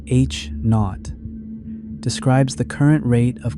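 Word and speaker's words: H₀: The Hubble constant, usually written as H0, pronounced H knot, describes the current rate of cosmic expansion.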